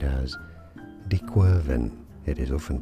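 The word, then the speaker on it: De Quervain: it is said as dequen it is often pronounced as dequen tenosinovitis theen tenosinovitis now this is a French name and in French it's not said like this at all but so you could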